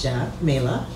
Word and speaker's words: Xamayla: our priorities for the district sure so I'm Jamila pronounce Jena Mela and I grew up in East Flatbush Brooklyn